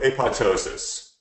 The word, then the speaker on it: apoptosis: they can go through apoptosis I know if spell apop but it's the second piece silent and all of us have been pronouncing wrong for a long time it plateaus us where